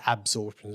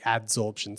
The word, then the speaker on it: adsorption: I think I said absorption before, so it's actually adsorption.